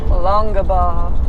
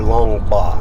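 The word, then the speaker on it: Longabaugh: real name was harry longer ball longer ball or long bar i've heard it pronounced both ways i'm not sure which is the correct pronunciation of it but what a lot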